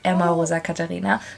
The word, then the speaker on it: Emma Rosa Katarina: So technically you pronounce it Emma Rosa Katarina, but if I introduce myself in English, I say Emma, which isn't the way that my parents would pronounce it, or I pronounce it when I speak German.